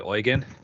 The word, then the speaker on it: Eugene: Eugene's name all along it's actually oygen yeah yeah foreign oh